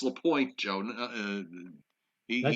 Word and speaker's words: Lapointe: It's Lapointe, Joe. Did I say LaPont?